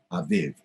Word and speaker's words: Aviv: and it's spelt a b ib but it's pronounced by the hebrews aviv a v ib but it's written a bit